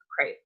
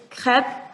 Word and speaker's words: crêpe: Oh, so correctly, it's crepe. So the R is like the worst part for the Americans, just because it's so different how we pronounce it. But yeah, you kind of have to roll your R, and so that just like crepe.